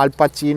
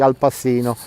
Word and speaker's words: Al Pacino: Al Pacino, I know that is the right pronunciation, but in English a lot they say Al Pacino, and so in this way we please everybody.